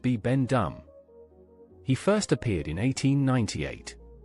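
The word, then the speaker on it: Bibendum: His real name is Bi Bendum, pronounced Bi Bendum.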